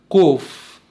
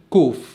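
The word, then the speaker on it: קוף: بعدين حرف القاف اسمه قوف قوف. حاليا اليهود بيستسهلوا بيقولوا كوف كاف، لأن حرف القاف حرف صعب شوية في النطق، فهم بيستسهلوا بيقولوا كوف.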